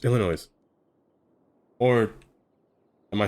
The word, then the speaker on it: Illinois: say every word wrong Illinois no I say noise I'll never hear the